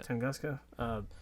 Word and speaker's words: Tunguska: Am I pronouncing Tunguska? Yeah. Tunguska.